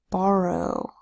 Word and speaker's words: borrow: Here you have a B that says B, an O that says ah, an RR that says and an OW that makes a long O sound O. Here the first syllable is ba, the second syllable is ro. Ba, ro. Say it together fast. Borrow.